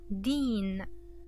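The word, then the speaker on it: دين: English but Arabic and so let's try to pronounce it Dean Dean and din by the way means religion okay din means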